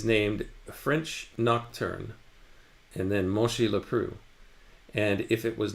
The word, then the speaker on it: Monchy-le-Preux: Monchy-le-Preux. P-E-P-R-E-U-X. Do you know how to pronounce that, Robot Lady? It's pronounced Monchy-le-Preux.